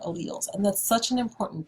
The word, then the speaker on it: alleles: the chain is called alleles that word is pronounced alleles so different versions of a gene if we